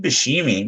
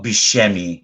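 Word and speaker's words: Buscemi: michael clark duncan and steve bashimi which is he well beshemi sorry i pronounced that wrong but a great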